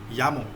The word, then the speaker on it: llamo: So, for example, uh, So this word is pronounced as llamo. Double L A is ya, llamo.